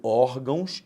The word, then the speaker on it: órgãos: Cuidado, órgãos é paroxítona terminada em ditongo, já falhou.